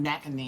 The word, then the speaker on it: McEnany: How does she say her name? McEnany? McEnany.